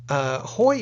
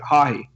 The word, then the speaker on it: Haughey: There was actually it was a prime minister, a leader of some kind in Ireland in the 80s who had the same last name, and they pronounced it Haughey.